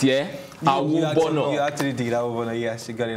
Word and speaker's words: Awobona: You actually did Awobona, yes, you got it right.